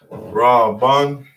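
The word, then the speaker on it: ראובן: that's our ancient tongue now this is another one that's a little hard to remember because it's silent you have a ah and a wall that connects it might be a little harder to remember that that was there raw bun would be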